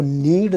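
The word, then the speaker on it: knead: कुत्ता हो जाएगा डॉ तो नीड द डो के से पहले एन जब भी आएगा वो साइलेंट हो जाता है थोड़ से वके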